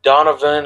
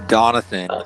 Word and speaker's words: Donathan: think she understood that Donovan or Donathan, however you say his name, and it's Donathan, okay? If you just say it Donathan, 3 times, you'll get it right from here on out.